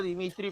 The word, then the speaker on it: Dmitri: aparato está la memoria están la rueda se pronuncia dmitri pero nos escribas y dmitri así de metro